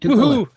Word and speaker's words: Tukwila: Tukwila. Yep, Tukwila. At least as far as I've been told. Yeah, I usually butcher the heck out of that sucker.